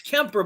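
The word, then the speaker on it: Kuemper: the goalie huh darcy kemper temper i always it's kemper but it's spelled weird yeah it's spelled e r comp or something like that business decision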